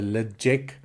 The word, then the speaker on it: Ledaig: we are looking at the lecheck quite a lot of different pronunciations um the last ones what I heard is the legit um 10 year old